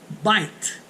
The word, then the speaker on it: bite: Eu coloquei ali na letra A o seguinte: se o I for seguido por uma consoante e uma vogal, ele será pronunciado como um I e não I. Exemplos: eu tenho ali bite.